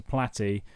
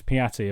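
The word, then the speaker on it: Piatti: boy over the top to platy not platy i've been reading his name wrong it's piati apologies for that good challenge by phillips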